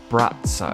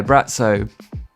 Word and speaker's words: Braco: this video but brat so it's written Bracco but I'm gonna say brat so because I think that is how it's pronounced and he's kind of